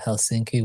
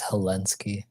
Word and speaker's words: Helsinki: I tell you the story of how what I thought the pronunciation of Helsinki was for the whole longest time yeah I thought it was helensky oh my god that's